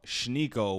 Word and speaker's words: Schneeko: This video comes from his main channel, Sneeko, and then he has a second channel called Schneeko with the SH sound at the beginning.